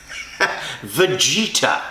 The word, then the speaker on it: Vegeta: How do you say? Vegeta. Vegeta. That's really how you say it?